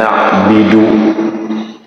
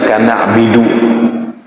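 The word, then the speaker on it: نعبد: Iyyaka na'budu wa iyyaka nastain kana'budu dibaca kana'bidu. Salah ya.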